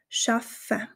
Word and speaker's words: schaffen: hast du schon gehört dass dieser Doppel F nicht wie ein langes F ausgesprochen wird sondern fast wie zwei einzelne F es wird also eine kleine Pause dazwischen gesprochen schaffen ich zeige dir noch